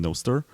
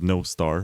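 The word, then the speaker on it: Nostr: other or zap on noer or no star because I found out that it's actually pronounced as no star which means good night in Welsh noar no star benar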